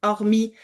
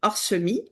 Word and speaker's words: hormis: Maintenant, on dit hormi, on dit plus horsemi.